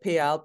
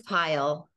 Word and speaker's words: Payal: we are today with pal am I pronouncing your name right it's pile pile thank you I should